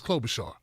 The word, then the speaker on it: Klobuchar: is her last name is klobuchar which rhymes with crowbar jaw or something or chainsaw